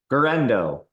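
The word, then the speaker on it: Guerendo: We saw Isaac, I don't know how to pronounce his last name. Tell me. Guerrero.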